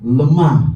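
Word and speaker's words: לָמָה: Eloy, Eloy, Lama, Lama Sabahtani. Tulisan dalam huruf Yunani itu kan penggabungan antara yang satu logat Ibrani, yang satu logat aramaik. Karena logat Ibrani itu harusnya eli. Eli. Eli, lemah, bukan lama.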